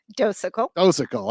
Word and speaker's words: Docekal: I think I might have pronounced that somewhat right. Did I get it? Docekal.